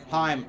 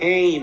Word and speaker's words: Heim: Heim, like Hockenheim. Like, is it really pronounced Heim or is it Haim? It's Usually Heim. I see it pronounced as Haim. Heim, it's like Hockenheim ring.